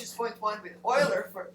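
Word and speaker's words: Euler: with Horn's method and this funny pronunciation I have is because this is a German both Oiler and Horn are German Nam so this is the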